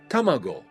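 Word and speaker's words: たまご: Let's learn how to pronounce this word and what it means. Tamago.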